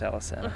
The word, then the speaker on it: Alesana: It's pronounced Alesana.